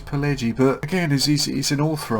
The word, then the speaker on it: Pileggi: Now, it's by, I'm not sure if you pronounce that with a soft G, was it Nicholas Pileggi? Or Pileggi? I'm guessing it's Pileggi, but again, he's an author I'm not aware of.